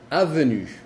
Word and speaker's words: avenue: Ahí viene nuestra regla que si le sigue una vocal ya no se dice en. Ejemplo, avenue.